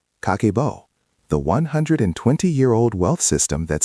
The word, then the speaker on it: Kakeibo: Created in 1904 by Hani Motoko, a pioneering Japanese journalist and the first woman to run a newspaper in Japan, Kakebo, pronounced Kakeibo, means household account book.